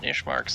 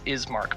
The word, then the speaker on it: Ismark: Open Ishmark's thing. I keep calling it Ishmark, it's Ismark, but I don't care.